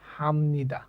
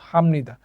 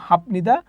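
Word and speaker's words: 합니다: যেটা শিখেছি সেটা হচ্ছে যদি বিয়ূপ বাচ্চিমের পরে কোন নিউন থাকে তাহলে বিয়ূপ বাচ্চিমটা ম এর মত উচ্চারিত হবে ঠিক আছে তো এখানে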